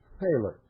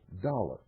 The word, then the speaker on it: thaler: The common coin of the realm was actually a Dutch thaler, which over the years became pronounced dollar.